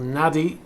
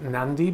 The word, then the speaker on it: Nadi: And she went to a place called Nadi, N-A-D-I. Someone told me it's pronounced Nandi, but I don't know.